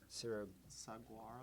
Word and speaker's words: saguaro: I believe it's pronounced Sira, how do you pronounce this? Saguaro.